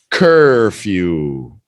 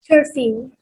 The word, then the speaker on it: curfew: stayed out past his curfew. Right? It said right there, a rule. Curfew. Yeah, that's an easy one. ER pronunciation, few. Curfew. 2 syllables.